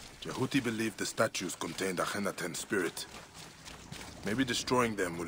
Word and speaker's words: Akhenaten: Akhenaten.